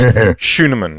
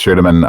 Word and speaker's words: Schuneman: Schuneman, yeah? Hey, look at you. Getting the German pronunciation right and everything there. Yes. My name is Schuneman.